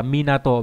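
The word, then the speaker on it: 港: Âm cương đọc là Minato, ví dụ trong từ Minato là bến cảng, Minatomachi là cảng đinh nghĩa là thành phố cảng.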